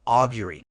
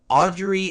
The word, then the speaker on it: augury: Today, we're exploring a word that encapsulates this mystical art, augury. Word type: augury is a noun. It's pronounced as Gaia, re, with the stress on the first syllable.